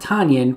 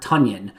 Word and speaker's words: Tonyan: the fact that apparently robert tanyan pronounces his name robert tunyan like onion or funyun as matt schneiderman said